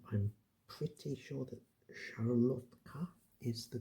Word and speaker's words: szarlotka: And so, our final question about Poland, at any rate, is: what's the main ingredient in a Polish szarlotka cocktail?